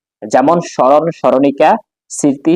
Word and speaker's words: স্মৃতি: যেমন স্মরণ স্মরণিকা স্মৃতি শ্মশান।